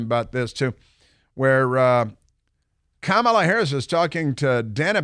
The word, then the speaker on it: Kamala: that you cannot mispronounce kamala's name or you're a racist you're don't say camela because no it's Kamala and don't say Camelot like the strip joint